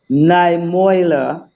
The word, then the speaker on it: Niemöller: um, this excerpt, these short lines from Martin Niemöller. I don't know if Martin I've got his Niemöller. name wrong, correct.